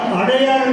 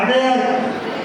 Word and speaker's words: அடையாறு: எல்லாம் தென்னாடு தென்னாடு சொல்லிட்டு அதனால் அடையாறு தான் எழுதணும் பள்ளியில் போட்டு. ஆனால் அடையார் இடையிலேயே போடுறான்.